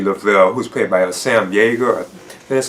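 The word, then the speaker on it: Jaeger: known as Grady Lavelle, who's played by Sam Yeager. That's how you pronounce it.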